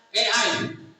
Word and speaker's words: AI: juga kita kenal dengan e I. E ii atau bahasa Indonesianya A i. Karena a itu dalam bahasa Inggris bacanya e. I itu dalam bahasa Inggris bacanya I. Jadi A I.